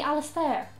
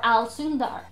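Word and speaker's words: Alastar: and the irish version of that would be alice there or al sundar just depending on what way your parents decide you're gonna pronounce it there are other names like andrew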